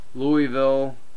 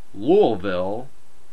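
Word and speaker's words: Louisville: well first off uh Louis beat um I'm sorry I'm going to say it right louville beat Villanova 74 to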